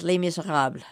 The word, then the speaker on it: Les Misérables: are I lost my body American Factory and Lima Sahab hi David are you mr. Cobb I love the way that you pronounce that so correctly as I knew you